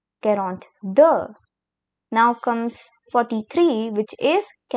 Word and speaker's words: quarante-deux: The next number we have is 42, which is quarante-deux quarante-deux Now comes 43, which is quarante-trois.